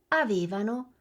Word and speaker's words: avevano: Avete sentito la differenza di posizione nell'accento tra il noi e il loro? Rivediamola insieme. Noi amavamo, avevamo, ci divertivamo e loro amavano, avevano e si divertivano. Fate attenzione all'accento dell'imperfetto perché nella coniugazione si muove.